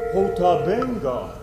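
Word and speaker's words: Ota Benga: When asked how to pronounce his name, it sounded like he said Otabank. But the Reverend Dr. Samuel P. Verner says it's pronounced Otabenga.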